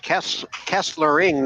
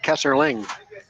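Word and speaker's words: Kesslering: one too as well it's Kessler ring not Kessler Ling ER yeah Kessler ring and is it a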